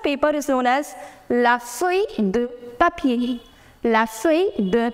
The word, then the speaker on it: feuille: La feuille. Remember, I told you ILL pronunciation is E. We do not pronounce double N.